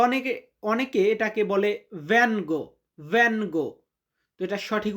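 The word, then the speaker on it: vengo: যে আমি বাংলাদেশ থেকে এসেছি এটার ইতালিয়ান হবে ভ্যাঙ্গো দাল বাংলাদেশ ভ্যাঙ্গো দাল বাংলাদেশ আমি বাংলাদেশ থেকে এসেছি। তো অনেকে অনেকে এটাকে বলে ভ্যঙ্গো।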